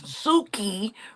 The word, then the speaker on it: Suki: Suki rhymes with coochie.